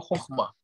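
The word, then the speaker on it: חכמה: Например, возьмем слово «хохма». Первый слог – это не «хо», а «хох». Да? Поэтому слог считается закрытым. То есть после гласного там идет еще согласный, то есть звук буквы «хав».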